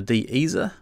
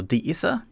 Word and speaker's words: de-esser: up the next one which is the Dez or de-esser depending how you want to say it or pronounce it I've chosen I think